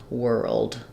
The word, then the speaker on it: World: that like were Old World um even though it's one able it can be really helpful to break it down into two World World um because the rld is comp is um is tricky so these are two